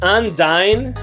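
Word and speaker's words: Undyne: It's pronounced Undine.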